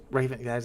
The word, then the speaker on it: Ravenquest: Is that how you pronounce it, Mo? Ravenquest. There it is. Ravenquest.